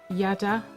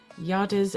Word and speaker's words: Yadah: I think it's pronounced Yadah. It's Y-A-D-A-H is the brand name.